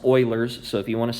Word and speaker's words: Euler: It's pronounced Euler's, so if you want to sound like you know what you're talking about, say Euler's.